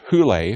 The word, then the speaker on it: Hole: beginning his racing career his series protagonist Harry who Leigh pronounced who lay but spelled hol II is a troubled and